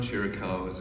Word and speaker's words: Chiricahua: Help me with the pronunciation of this Indian tribe we talked about earlier. The Chiricahuas?